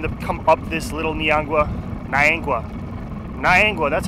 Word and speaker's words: Niangua: They said usually it's like March, April is probably the best month for them to come up this Little Niangua, that's how you pronounce it.